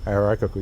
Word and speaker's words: hierarchical: It's got too many syllables. Hierarchical. Hierarchical, you got it.